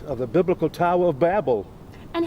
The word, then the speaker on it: Babel: Howe, I'm not here to argue with you, but you have no evidence that this is the Tower of Babel site. It is pronounced Babel, Ms.